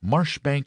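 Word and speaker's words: Marjoribanks: Bank Sellers Viccount Berkeley of Chanderlay Castle Warwickshshire pronounced Cubri Thin Landover Marshbank Sellers Viccount Barkley of Chumley Castle Warikshire.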